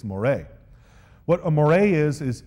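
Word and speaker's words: moiré: but it's actually pronounced Moray in fact if I had uh really been awesome I would have put a little accent mark above the e in that word so that you would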